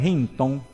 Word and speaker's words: Hintong: in tomar tiene algún acento prosódico pero se pronuncia con ella fuerza de botella el abogado hinton que pues para la el conocimiento de ustedes